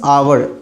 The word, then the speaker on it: hour: अब यहाँ आते हैं, यहाँ आर्टिकल यूज़ करना है, और आर्टिकल मीन्स आवर, HOUR, यानी इसका प्रोनाउंसिएशन ना आवर जाता है, और हम जानते हैं